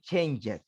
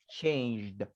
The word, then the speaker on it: changed: one easy endings okay we don't say changes okay we say changed how things have changed